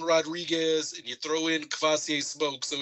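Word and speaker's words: Kavosiey: Cavassier, Pastor Cavassier.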